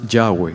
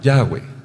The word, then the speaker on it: Yahweh: sell not sell romanza Joey the name is pronounced Yahweh Yahweh Yahweh our now Conley the Supriya will Hebrew letters